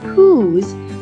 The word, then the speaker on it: whose: here under the wh this will remind us that in the word who's we say the sound H when we read the wh diagraph the next sound we